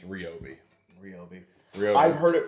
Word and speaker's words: Ryobi: Electric mower made by a company I like to call Ryobi. And I called the customer service line, and there was automated recordings all through that thing that told me it's Ryobi.